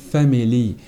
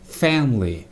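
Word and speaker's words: family: هنا من ناحيه النطق ركز على كلمه فام فلي لان الناس بتقول كتير فاملي دول لاث مقاطع لكن الصح تركيز على اول مقطع فام والتاني لي فاملي فاملي انا قررت اسيب البلد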